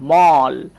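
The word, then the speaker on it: mall: যদি আমরা দেখি যে শব্দের শেষে এই এল এল এই প্যাটার্নটা চলে এসেছে, তাহলে অবশ্যই আমরা অ এর মতো উচ্চারণ করব।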